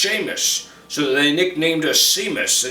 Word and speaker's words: Seamus: I'm Seamus, pronounced Seamus, so they nicknamed us Seamus, and Sean and it stuck, just like your mother.